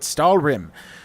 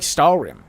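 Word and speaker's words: Stalhrim: show him Magic Ice he call it stal RM SK lik stal RM he like way it look he like way it sound H is silent just like sko because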